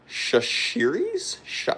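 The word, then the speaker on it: Chachere's: Cooper Baseball says it's pronounced Shashiris.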